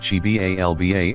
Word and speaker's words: Xibalba: Beneath the earth was the dark realm of Xibalba, pronounced Chibalba and translated as place